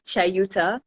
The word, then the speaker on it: Chayuta: So we need to be saying Chayuta.